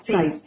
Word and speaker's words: SAIS: ¿Lo estoy pronunciando correctamente? SAIS.